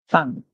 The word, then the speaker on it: thank: here is Tong Tong so we have our tongue between our T and then here and thank and when you thank